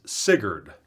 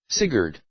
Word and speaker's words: Sigurd: had to figure out how the heck to pronounce the name it's sigured at least according to the pronunciation website sigured apparently sigurd is a some sort of Germanic mythology or